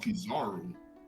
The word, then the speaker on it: Kizaru: Like I told you, I butchered the fuck out of his name. You talking about Kizaru?